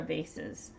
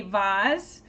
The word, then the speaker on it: vase: do you say it is this a Vaz a Vaz that's how my mother says it and she learned English in England um or is it a vase so long a or